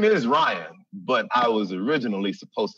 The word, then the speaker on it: Rion: For those that don't know, my name is Ryan. It's R-I-O-N. And I always say, I spell it for people because some people are stupid. They see R-I-O-N and they're like, that's not Ryan, that's Rion, as if me and